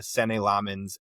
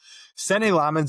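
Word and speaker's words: Senne Lammens: The big standout for me was we got a Sen Lmens debut. Sen Lmens is how I believe you say his name.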